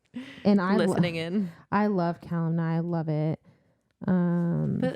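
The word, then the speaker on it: Calanmai: Okay, so it's Calamai. I spelled it phonetically for myself.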